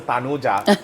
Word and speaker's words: Tanuja: But it's actually T-A, not Yeah. T-H. No, she was a Tanuja. Went to London and dropped the H, and she's Tanuja. It's like English pronunciation.